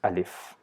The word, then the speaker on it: alif: mouth inside our mouth we just pronounce simply with the sound uh and join it with Leaf so it becomes alif so there is no